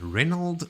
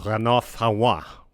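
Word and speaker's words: Renald: with a POV from Reynold Fanoir? It's pronounced Rena is you got to block your nose. You can't breathe through it.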